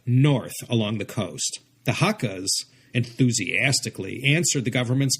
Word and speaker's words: Hakka: people, these Kejiaoren, or Hakka, as Kejia is pronounced in Cantonese, lived side by side